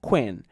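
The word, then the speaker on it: cwēn: By the time Weeba and quonis had passed into Old English, they were pronounced weef and quen, respectively, and they both meant woman.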